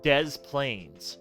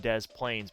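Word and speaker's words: Des Plaines: then if you go over towards Chicago there's Des Plains you pronounce the s in Des Plains but you do not in Des Moines anyway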